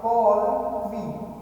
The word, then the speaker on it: colloquy: Spelling है COLLOQUY and it pronounced by call क्वी।